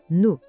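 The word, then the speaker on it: nous: Já no plural, nós é nu. Esse é bem mais fácil. O s no final, esquece, ele não é pronunciado, é mudo, simplesmente nu.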